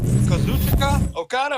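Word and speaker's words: Kazuchika Okada: the hell you just said yeah it's uh kazuchika okata am I saying it right yes K or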